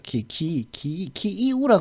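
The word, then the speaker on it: Київ: 키이우라 그러기도 하고 그죠? 발음을 제가 잘 모르니까 제가 러시아를 모르니까 키이우라 그러더라고요. 또 원래 우크라이나 말로는 키이우. 근데 우리는 키예프라고 쓰죠.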